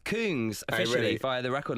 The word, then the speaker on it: Kungs: No, it's pronounced Kungs officially really?